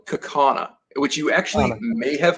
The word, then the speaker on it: Kaukauna: People look at it, and it's spelled Kaukauna. It's like Kaukauna.